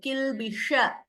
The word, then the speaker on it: kilbisha: When I say sh here, kilbisha, the tongue is slightly turning upwards towards the roof of the mouth, kilbisha.